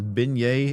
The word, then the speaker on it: beignet: Uh you Philistine, it is pronounced as beignet.